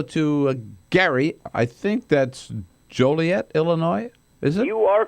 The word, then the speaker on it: Joliet: Or you could pronounce it Joylet. I don't think the people from Joliet would like that.